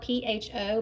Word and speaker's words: pho: It's spelled P-H-O, but you say pho, like that.